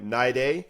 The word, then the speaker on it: Troy Niday: And today I get to sit with my friend Troy Naid rhymes with Friday.